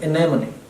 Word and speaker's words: anemone: beautiful anemone okay so this is not anymore many you would pronounce any anemone that's the pronunciation varied a few more